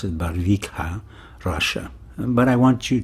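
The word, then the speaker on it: Barvikha: a r VI K ha a and I pronounce it barika Russia but I want you to listen to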